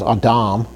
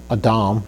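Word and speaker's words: אדם: next example, which is Adam. Adam, not Adam. Adam is more of an English sounding word, but Adam is spelled with an aleph with a chametz under that, which gives us the long ah sound, Adam.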